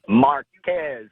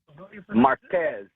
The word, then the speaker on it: Marquez: I would pronounce it Marcus, but some people pronounce it Marquez. How about you, caller? How do you pronounce it? Marquez.